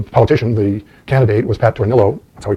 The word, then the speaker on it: Tornillo: and the the politician the candidate was Pat Tornillo so he pronounced it who was running for the Florida